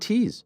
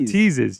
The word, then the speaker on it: teas: No, no, not teases. Teas.